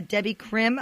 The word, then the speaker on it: Debby Krim: interview we've been chatting it up with a Debbie Krim I hope I'm pronouncing that right am i perfect perfect terrific